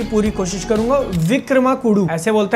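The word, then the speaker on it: Vikramarkudu: अगली picture release होती है जिसका नाम मैं प्रोनाउंस करने की पूरी कोशिश करूंगा विक्रमा कुडू ऐसे बोलते हैं विक्रमार कुडू बजट फिर से करियर का पीक टच करता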